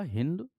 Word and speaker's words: हिंदू: इनके द्वारा बेटा स का उच्चारण ह से किया जाता था। अतः इन्होंने स को क्या बोला होगा? हिंदू।